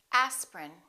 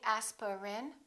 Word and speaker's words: aspirin: a list of words each one of these words contains one vowel one syllable which is not pronounced look at these words and repeat after me aspirin don't say aspirin say aspirin evening evening